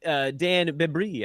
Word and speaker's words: Besbris: the Covenant, but really it's like a Yiddishized pronunciation of bait brit that became Besbris.